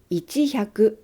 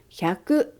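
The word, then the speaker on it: 百: Chữ ichi đầu tiên ở hàng hyaku và sen sẽ không được phát âm. Vì vậy, số này không đọc là ichihyaku, mà đọc là hyaku. Số này cũng không đọc là ichihyaku nijuu. Chúng ta đọc là hyaku nijuu.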